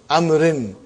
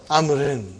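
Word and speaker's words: عمرو: Haza Kitabu Amrin. Waw is still written. Are you with me? It's not pronounced. It's just to... Why it is written? To differentiate between Umar and Amr.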